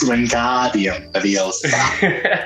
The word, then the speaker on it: Wingardium Leviosa: It's pronounced Wingardium Leviosa.